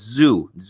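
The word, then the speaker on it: Tszyu: Oh, it's Zoo. Okay, the pronunciation Zoo.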